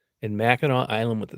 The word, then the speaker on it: Mackinac: Now, Mackinac Island is spelled m a c k i n a w. Mackinac Island is m a c k i n a c.